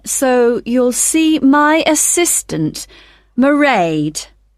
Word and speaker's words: Mairéad: I won't be working then, so you'll see my assistant, Mairéad. Sorry, how do you spell that? It's m a i r e a d. Mairéad.